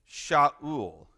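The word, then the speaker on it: שָׁאוּל: This one is Sha'ul.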